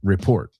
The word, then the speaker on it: report: Oh, I've heard so many people say report or report. It's report, right?